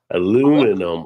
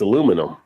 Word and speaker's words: aluminum: Big one for me as an Aussie listening to American is aluminum or aluminium. So Aluminium. Yeah. yeah. But see, in America, it's aluminum.